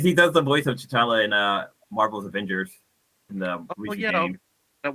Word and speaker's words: T'Challa: also does the voice of uh uh uh t'challa and I said it right God damn it yeah anyways he does the voice of chatala in uh Marvel's Avengers that one seat of